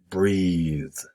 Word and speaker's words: breathe: The verb is breathe. Breathe. Equal, take a breath. So the TH is pronounced differently and the vowel is different. For the verb breathe, it's E. For the noun breath, it's E.